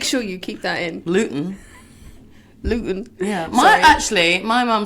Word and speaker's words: Luton: Luton. Yeah. My mum said I say Luton right. Okay. Mrs. Gluten? Ellis? Blossom. Let's just call her Blossom. Let's call her Blossom. Yeah. Yeah, if Luton you're listening, with she's gluten.